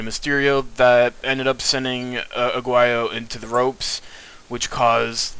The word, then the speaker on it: Aguayo: El Hijo de Pero Aguillos. I believe. Aguayo. Aguayo.